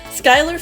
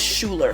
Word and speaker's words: Skyler: Lee Cook's first movie Skyler Fisk plays christe she's notable for being Spix's daughter I don't remember ever seeing her in anything else I pronounced her name as Schuler for the longest time